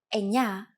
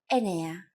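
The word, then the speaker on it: εννιά: time for Chris's insides the pronunciation we have used in this in the previous lesson is a standard pronunciation for numbers sometimes though especially in casual conversation Greeks also use efta instead of eptah octo instead of octo and Enya instead of Anya so if you notice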